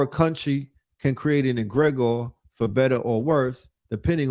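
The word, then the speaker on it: egregore: Let's get into this word right here, egregor.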